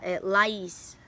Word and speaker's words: Laís: Aí eu peguei e falei, Laís. Aí ela, tá bom, Laís, ok.